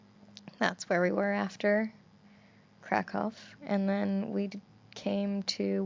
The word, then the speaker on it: Kraków: Poland, and I think Kraków is. Oh my God, pick one. I know. I'm sorry. I can't. Now that I know it's pronounced one way, and I can't go back to being like Cracow, because then I just feel You weird.